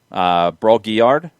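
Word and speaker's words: Brault-Guillard: I'm going to need your help on the French pronunciation from Montreal. Broguillard?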